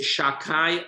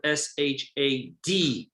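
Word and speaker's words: Shaddai: And the next name is Shakai. Again, I'm mispronouncing it. It's really spelled Shadai.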